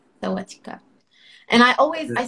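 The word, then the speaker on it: สวัสดีครับ: So different genders will greet differently. So for a woman, I'll say Sawadika. And I'll say Sawadikap. Sawadikap. You say Sawadika. Sawadikap.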